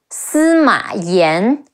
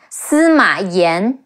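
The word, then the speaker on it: 司马炎: Wang Yuan Ji, and Emperor Wu of Jin, Sima Yan, Yan, Sima Yan.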